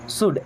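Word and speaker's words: should: We means हम या हमें शुड एल साइलेंट ना शुड मींस चाहिए।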